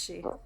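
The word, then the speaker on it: sidhe: a court side she that's pronounced she she and it's s-i-d-h-e sweetie yeah but um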